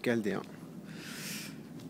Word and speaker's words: Chaldéen: Aussi appelé Chaldine, mais bon, c'est une erreur. La vraie prononciation, c'est Chaldéen.